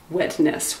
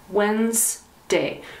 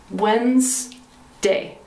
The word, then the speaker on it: Wednesday: s this is crazy it looks like wednesday but we don't pronounce it wetness we say whens whens and then d-a-y wednesday so the pronunciation is